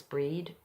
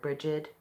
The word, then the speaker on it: Brigid: feeling the energy of the goddess breed or brigid bridey how you know there are many pronunciations of her name the goddess of the